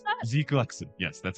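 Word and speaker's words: GQuuuuuuX: Like is that how you pronounce that? Zquax. Yes, that's how it's pronounced. It's not Gqu.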